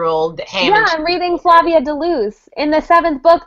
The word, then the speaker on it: Flavia: he just ran it rhymes with brave and grave and I'm like is